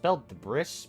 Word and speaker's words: debris: Why is debris spelled with an S? That's spelled debris, but it's debris.